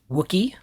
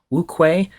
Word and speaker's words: Wuque: This is from Wuque Studios, sometimes pronounced Wuque, Wuque. I'm pretty sure I'm saying that right.